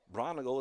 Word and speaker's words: Braungardt: Braungardt is spelled b r a u n a g e l. Pronounces it Braungardt.